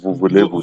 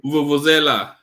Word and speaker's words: vuvuzela: How do they pronounce that word? Vuvulevu, this South Africa. Vuvuzela. And the Vuvuzela, yes, I said Vuvulevu.